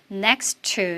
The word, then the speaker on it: next to: 그래서 실제로 귀로 들릴 때는 next to 이렇게 정확히는 안 들리고 next to 이제 끝에 있는 T 발음은 생략되면서 next to라고 들립니다.